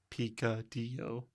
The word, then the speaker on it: picadillo: says repeat after me picadillo is pronounced pika d-o and it's awesome on